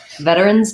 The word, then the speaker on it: veteran: i point out that you can say veteran with a flap t run better on in contrast veterans um that sse um